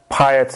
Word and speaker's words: Payet: All I know is that this guy, I'm going to say Payet because that's how it should be pronounced if it's French.